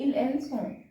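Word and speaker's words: ils ont: Okay, नू, नू के साथ we have O एन एस, आवो, वो, जावे, इल एल ऑन, this इज pronounced इल एल सॉन्ग।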